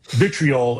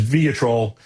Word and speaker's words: vitriol: And I'm reading some of them and uh you know, I think I had uh mispronounced um Vitriol as Vatrol.